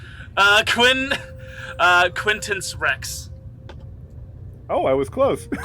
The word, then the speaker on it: Quinctenc Rex: He's on the the I'm going to say that middle C is silent then just so it's easier to pronounce. Uh, Quinn uh Quintance Rex.